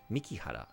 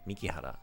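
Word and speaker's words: 美樹原: Mikihara. That's why. I'm wrong. I had her name wrong. That's the issue. Mikihara.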